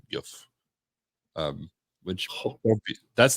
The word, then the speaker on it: GIF: G's become J's Yeah. often. So I Yeah. was always using that rule. Yeah. I don't think anybody's gonna like not be your friend if you say it wrong, but you're definitely probably gonna get some asshole. It's like it's actually GIF.